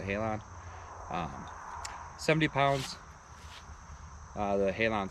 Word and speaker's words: Halon: i'm shooting is the matthews halon or halen however some people pronounce it but i pronounce the halon 70 pounds the halon 6.